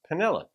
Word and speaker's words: Manila: kind of like spelled like Manila but it's pronounced penilla made a gift to the channel for me to do this song song's about Rain by Gary Allen so Panela first thank you for this gift and here's